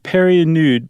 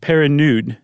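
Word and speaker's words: Pernod: Louis peria nude and Perry nude para nude sorry I was adding an extra syllable in there as I do Para nude um was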